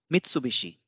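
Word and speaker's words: 三菱: is not applicable here similarly Mitsubishi Mitsubishi will remain Mitsubishi it will not become Mitsubishi it will not become Mitsubishi because B is a voiced consonant but is a voiced consonant and is an unwise consonant so o in between will not get divised it will be Mitsubishi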